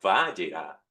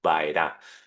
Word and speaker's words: Vayera: La de esta semana se llama Baera. Ay, pero ¿qué diferencia hay? La Yut. Sí, hay una letra que este que está ahí que no no no la estás pronunciando, es vaerá, pero tiene la misma raíz y me aparecí.